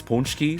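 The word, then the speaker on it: pączki: I It says pronounced punchki like this, but ah gosh, man.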